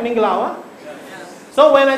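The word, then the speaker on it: မင်္ဂလာပါ: Minglawa?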